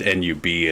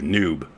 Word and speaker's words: Nub: had the nickname Nub, and it just N-U-B, and I pronounce it Nub, and he was like, no, actually, I meant it to be the hard U, Noob.